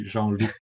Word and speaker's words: Jean-Luc: So, my name correctly pronounces Jean Luke, but you can call me Jean Luke of course if you like it's bit like lucky look.